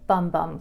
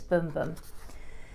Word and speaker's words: Bum Bum: I would have pronounced it Bum Bum cream, but I'm told it's Boom Boom.